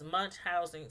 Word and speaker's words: Munchausen: show, this lady has Munchausen syndrome. And I always say that word wrong, so let me make sure I say it right. It's Munchausen. Munchausen. Munchausen. I think that's how you say it.